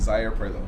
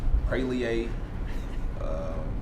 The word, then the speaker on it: Zaire Prioleau: So my name is Zaire Prioleau. That's how you say my name. I've heard Zaire Prioleau, Prailie. I've heard a lot. I've had, which isn't too bad.